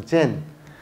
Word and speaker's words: Zen: 종인데 어 다 그 는 젠이라고 읽고 중국은 찬이라도 읽고 우리는 이제 선이라고 말하는데 그건 이제 각각 음이 다르기 때문에 그런 건데 가르키는 거는 똑같죠 일본은 Zen이라 그래서 젠 그다음에 중국은 chan 그래서